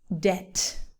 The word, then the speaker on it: debt: The pronunciation of this word is debt or doubt. The B is completely silent, completely, not even a little bit.